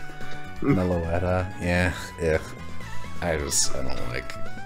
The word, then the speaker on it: Meloetta: normal because you sound normal all right it's pronounced Meloetta yeah yeah I just I don't like I